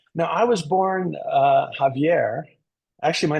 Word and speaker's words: Xavier: if you don't mind your first name is Javier if you don't mind but spelled with an X which just gives it